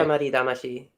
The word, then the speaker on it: Katamari Damacy: How do you actually pronounce that type Katamari. Of game? Katamari Damacy.